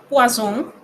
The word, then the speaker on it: poisson: Pero si usted dice poisson, pescado.